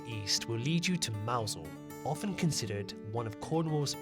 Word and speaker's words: Mousehole: While there are many theories on the origins of its name, there is only one right way to pronounce it, and this is Mousehole, not Mousehole.